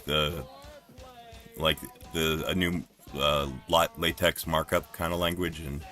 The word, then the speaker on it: LaTeX: LaTeX.